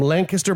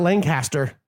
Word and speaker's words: Lancaster: And it's not Lancaster, it's Lancaster. Gross. You got to say it right. I still say Lancaster. It's Lancaster. Because there's no G in it.